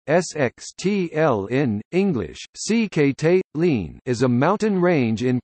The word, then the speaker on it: Sikhote-Alin: The Sikhote-Alin, Russian, Sikhote-Alin, Russian pronunciation, SXTLN, English, Sikhote-Alin, is a mountain range in Primorsky and Khabarovsk